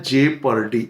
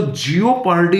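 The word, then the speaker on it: jeopardy: basically एक noun है जे पर्डी spelling प ध्यान दीजिएगा और साथ में प्रोनंसिएशन प ये दिस इ जे पर डी इसको जिओ पर्डी नहीं बोले कुछ विद्यार्थी स्पेलिंग के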